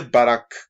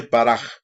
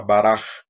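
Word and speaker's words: ברך: Bendecir, bueno, no se dice Barak con K, se dice Baraj, porque la regla gramatical es que la última letra en esto es suave y es una half sofit, se llama, y se convierte en una pronunciación como si fuera una J, Baraj.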